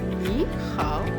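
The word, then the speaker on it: 你好: Lorsque le ni est isolé, il est en troisième ton. Le hao également en troisième ton. Mais lorsque les deux sont mis ensemble, une prononciation, une expression plus fluide, le ni se lit en deuxième ton et le hao garde son troisième ton.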